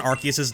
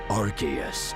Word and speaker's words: Arceus: While the battle among three of the mightiest Pokémon ever known rages on, Archus awakens. Uh, it kind of sounds like Archus, but we don't fully buy it.